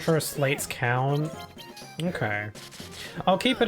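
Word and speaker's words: Sleights: the word and realized the word is pronounced slates, right? Because it's like sleigh, like Santa's sleigh. It's spelt the same. But I used to call them slights.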